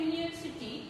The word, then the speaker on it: university: In words such as uniform and university, the letters U is pronounced as YU. ये जो uniform और यूनिवर्सिटी, ये जो letter word है, ये यू लेटर से स्टार्ट हो रहे हैं, वॉवल लेटर से स्टार्ट हो रहे हैं, लेकिन उसका जो प्रोनाउंसिएशन है, जब हम उसे प्रोनाउंस कर रहे हैं तो उसका जो साउंड आता है वो कैसे आता है?